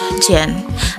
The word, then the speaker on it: Gin: Ijin used the name Jjwan, pronounced Jjwan, as its product identity, signaling Jjwan's strong personal branding as an icon of pop culture and economy.